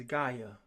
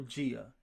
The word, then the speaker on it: Gaia: Gaia or Gia like geography. Geography means location on the planet on the earth. That's Gaia is spelled G A I A. So you can pronounce it Gaia or Gia.